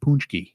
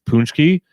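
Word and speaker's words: pączki: it's spelled P AC z ki and it's pronounced punch ki see this is why I saw that word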